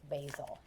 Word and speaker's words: basil: The name part rhymes with leaves, and the herb part sounds like bazaar without the R.